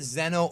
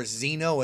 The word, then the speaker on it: Xeno: And I'm pronouncing it Xeno. You can pronounce it Xeno or Xeno. It's X-E-N-O, like Xenoverse, which is where the idea came from.